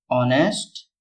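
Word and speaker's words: honest: उसी प्रकार जो ऑनेस्ट दिया गया है इसमें एच साइलेंट होता है। एच का उच्चारण नहीं किया जाता है।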